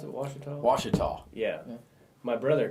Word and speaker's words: Washita: And is that how you pronounce it, Washita? Washita.